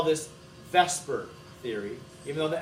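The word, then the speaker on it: VSEPR: we spell it differently the differently than we pronounce it but everybody in chemistry call this Vesper theory even though the s and E are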